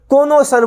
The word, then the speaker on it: connoisseur: आर्ट हो गया, music हो गया, टेस्ट हो गया, उसे कॉनोसर बोलेंगे। कौन से सर? कॉनोसर बोलेंगे। कॉनोसर, कौन से सर बोलेंगे? कॉनोसर बोलेंगे।